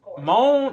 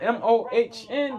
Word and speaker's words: Mohn: You pronounce his name Mohn, M-O-H-N, the dude who killed his father?